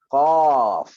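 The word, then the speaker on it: قاف: Huruf yang seterusnya adalah huruf qaf. Okey, qaf. Okey, qaf. Ejaan dia qafun, qaf. Ejaan dalam bahasa Melayu dia adalah QAF, bukannya QOF. Bukan qaf, tapi qaf. Qaf, buka mulut.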